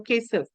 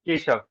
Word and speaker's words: Kesav: That's the way to pronounce it? Or Kesav? It is Keshav.